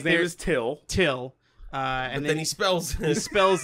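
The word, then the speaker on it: Thgil: And so, like, there's Till. Till. And then he spells it. He spells it T-H-G-I-L. But it's pronounced Till.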